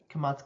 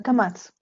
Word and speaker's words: kamatz: So I'm wondering, so you have your hey with the kamatz katan Not kamat katan, kamatz.